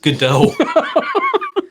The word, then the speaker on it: Godot: out now all right godot it's pronounced godot oh the